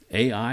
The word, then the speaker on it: Ai: you see that and ai ai is spelled just like it sounds a i and it's north of